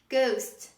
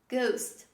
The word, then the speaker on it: ghost: example this is ghost ghost we drop the letter h when we pronounce this word ghost the next example honor